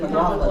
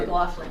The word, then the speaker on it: McLaughlin: I am here to present Bob McLaughlin. Did I pronounce it correctly? You got it, McLaughlin, that's right. McLaughlin, Yep.